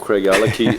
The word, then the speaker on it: Craigellachie: you can I can show the world how Craig alaki is made and how it's spelled or how it's pronounced that way uh